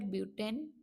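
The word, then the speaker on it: but-: BUT इसका spelling होगा, इसको बट नहीं बोलना, इसको ब्यूट बोलना है, ठीक है।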